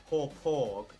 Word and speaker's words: Hauppauge: By the way, Joe asked Nitro how you say it, and she said it's Hauppauge. Hauppauge. Now I don't know how he means. He said HAW-PAWG.